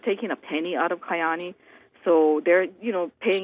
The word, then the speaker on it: Kyani: Well, how do I pronounce it? Kyani?